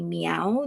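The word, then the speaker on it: MEOVV: I was told that it's not move it's actually meow that's how they pronounce it so meow this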